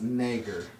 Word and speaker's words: Schwarzenegger: It's pronounced Nager.